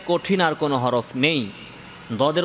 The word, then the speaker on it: ض: আসলে দদ না দালের মতো না ভয়ের মতো, বরং দদের উচ্চারণটা এটা তার সম্পূর্ণ নিজস্ব উচ্চারণ।